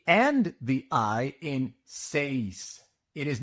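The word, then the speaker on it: seis: You must pronounce the e and the i in say. It is not sis.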